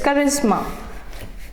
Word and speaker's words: charisma: That is charisma. Generally, when C is followed by H, it's not pronounced as ch. It changes its pronunciation to k.